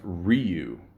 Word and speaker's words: Ryu: know I always pick rayu and it's actually pronounced Ryu a lot of people don't know that if